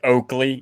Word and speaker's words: Oakley: like two l's or two r's like like oakley you know if you ever bought like a pair of fake oakleys it's spelt wrong it's not it's not a mistake